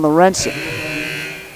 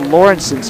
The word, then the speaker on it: Lawrenson: No basket, no shot attempt there for Ratash, but we're going to get a foul on Lorenzen. And Lawrenson called for the foul. Rachel Lawrenson's how you pronounce that name.